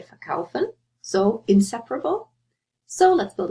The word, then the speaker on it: verkaufen: Again, think about where's the stress. Do you say verkaufen or verkaufen? You say verkaufen, so inseparable.